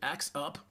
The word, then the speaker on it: AIXup: As you can see up the top left, AIXup, that's how we pronounce it, AIXup, AI Powered Up.